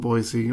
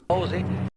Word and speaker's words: Boise: Significant portions of the movie were shot in Meridian and Boise, or if you're in this movie, you pronounce it. Buzzi.